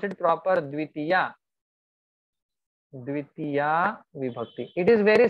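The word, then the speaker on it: द्वितीया: Pronounce it proper. Dvitiya.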